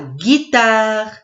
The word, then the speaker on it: guitare: Oui, c'est la guitare. La guitare. Guitare. 3 syllabes.